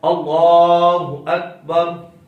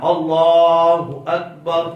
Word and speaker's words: اللہ اکبر: کا درست تلفظ ہے اللہ اکبر۔ میں ایک مرتبہ پڑھتا ہوں، آپ نے دہرانا ہے اس کو، صرف لام کو لمبا کرنا ہے اور کسی لفظ کو لمبا نہیں کرنا، اللہ اکبر اللہ اکبر۔ اب اس میں غلطی کون کرتا ہے؟